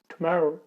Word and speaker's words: tomorrow: इसका proper pronunciation क्या है, बीच में डबल आ रहा है तो डबल आर प्रोनाउंसिएट करिए और बोलिए इसको टुमारो।